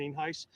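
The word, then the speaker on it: Nienhuis: Sheriff mean face spelled n-i-n-h-u-i-s and it's pronounced the name Heist uh we're here out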